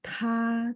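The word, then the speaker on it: 他: Ya, ta, tui. Ta, t baca th ya.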